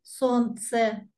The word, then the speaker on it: солнце: Пишется солнце, произносим солнце.